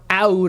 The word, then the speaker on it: Aoud: Oud lemon mint, or Aoud lemon mint, however you want to pronounce it, because it's spelled with an A, but I believe it is still pronounced oud, contains the obvious lemon,